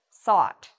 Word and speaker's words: sought: seek is sought so again it has that ah sound to it sought so i've written it down here s-a-w-t now i have another